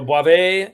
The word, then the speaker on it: Boisvert: Eric gave me the correct pronunciation. Boisvert. Bravo. So Boisvert, yeah.